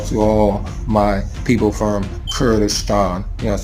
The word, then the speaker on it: Kurdistan: So I gotta make sure I roll my R when I say Kurdistan. So it's Kurdistan. It's not Kurdistan.